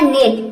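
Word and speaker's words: net: तो यहाँ पे 2 कॉन्सोनेंट के बीच ई आया है तो ई को हम क्या प्रोनाउंस करेंगे, ए। एन का हो जाएगा न, ई का हो जाएगा ए और टी का हो जाएगा ट। तो ये हो जाएगा नेट।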